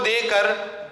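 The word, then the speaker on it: the: तो वहां पे उसका करेक्ट प्रोनाउंसिएशन होता है आर्टिकल दी। क्या होता है? दी होता है।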